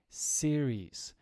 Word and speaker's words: series: a series of questions this pronunciation here is series TV series the other